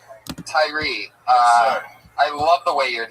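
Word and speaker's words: Tyrhee: A silent H in it. The H, you don't even pronounce it.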